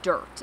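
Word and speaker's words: Dyrt: use frequently is the dirt and that's spelled with a Y d-y-r-t it's very similar to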